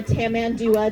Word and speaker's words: tamandua: Not only is she known as a lesser anteater, but the other name for her is a tamandua or a tamandua, depending on your pronunciation.